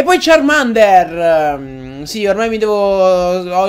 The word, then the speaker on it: Charmander: cazzo però insomma siccome tutti lo chiamano charmender ma è sbagliata la pronuncia di charmender adesso io lo pronuncerò Charmander in ogni caso signori